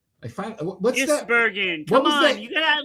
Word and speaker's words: van Gisbergen: The road course legend, Shane Van Ginsenbergen. What's that? Gisbergen. Come on, you gotta at least pronounce his name what right.